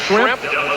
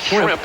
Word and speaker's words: Schrempf: So we have Schrempf. If you mispronounce it a little bit, call it Shrimp.